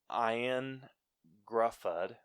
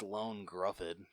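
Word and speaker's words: Ioan Gruffudd: so i went with iron gruffad who was mr fantastic as the original fantastic wow you butchered his name what's his name it's lone gruffin lone gruffin yeah how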